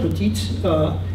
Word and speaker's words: petite: Other words which might sound very similar, petite, will have a T that's always pronounced, even when this type of T is not.